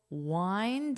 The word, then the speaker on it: wind: All you have to do is replace the F with a W, but the rest of the word is pronounced the same.